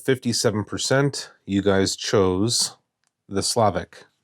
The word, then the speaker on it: Slavich: 2 or something called Slavich photographic paper, smooth double weight fiber-based glossy paper, grade 3. And by a vote of 57%, you guys chose the Slavich. I believe it's pronounced Slavic.